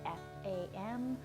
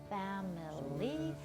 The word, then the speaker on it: family: It's F-A-M-I-L-Y. Looks like there should be 3 syllables, but no one says family. We all say family, as if there were only 2 syllables.